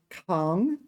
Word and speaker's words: 扛: Okay, Kang. All right, I got it wrong the whole time. Kang, Kang, Kang. All right, it is second tone. Kang, second tone.